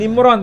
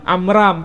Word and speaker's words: Amram: disebutkan amram di sini Iya bukan Imran Tapi amram pelafalan Ada kemiripan Abraham